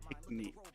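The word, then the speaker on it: Pinckney: I always want to say Picky, but it's Pinkney.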